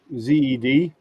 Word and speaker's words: zed: say that at ged z-e-d that's how you pronounce the letter z zed yeah yeah i said